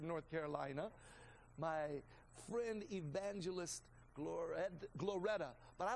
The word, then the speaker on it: Gloretta: My friend, evangelist Gloretta, but I like to say it like this, Gloretta.